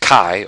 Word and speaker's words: chi: uh cool X but that X is uh pronounced Kai or in uh ch if you write it out and um they